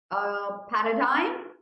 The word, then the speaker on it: paradigm: Paradigm, do you want me to pronounce the word? Yes, that's paradigm. Okay, इसको जी pronounce नहीं करते हैं, all right, इसको बहुत सारे लोग गलत प्रोनाउंस करते हैं।